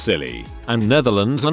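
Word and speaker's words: Scilly: divided by an ocean isle of silly pronounced silly and netherlands are not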